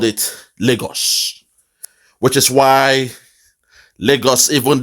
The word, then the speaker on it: Lagos: Lagos, that's the real pronunciation. Lagos, it means lake, a lakeside. It is a Portuguese word.